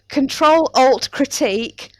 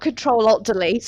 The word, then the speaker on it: Control Alt Critique: It's Control Alt Critique, not Control Alt Delete as I always call it.